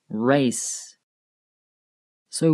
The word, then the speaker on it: races: end of the word race so when we add an S to the end of the word and plural it becomes races notice how race is one syllable and races is two syllables let's look at some